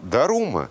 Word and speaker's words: Дарума: А Дарума – это японское произношение имени Бодхидхармы, основателя буддийской школы Чань, по-японски дзен.